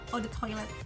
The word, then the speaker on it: Eau de toilette: Gimana cara pronounce EDT-nya? Eau de toilette.